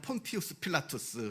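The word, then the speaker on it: Pontius Pilatus: 총독이 이스라엘을 다스리게 되었습니다 본디오 빌라도 더 정확하게 발음 하자면 폰 피우스 필라투스 는 루마 에서 파견돼 온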